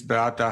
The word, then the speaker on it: Beata: The Polish pronunciation is Beata.